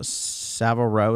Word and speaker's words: Savile Row: james but it's uh savile row is that how you pronounced it yup s-a-v-i-l-e yeah so and i'm